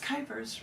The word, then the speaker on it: Kuypers: Kuypers, rhymes with Hyper.